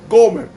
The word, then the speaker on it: Gomer: Era que Dios quería enseñarle al profeta Oseas que así como él buscó a Gomer, que en hebreo se pronuncia Gomer, así como Oseas buscó